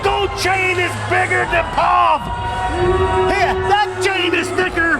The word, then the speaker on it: Pav: His name is spelled Pav, P-A-V, but he tells me he likes it pronounced Pav, almost like P-O-V.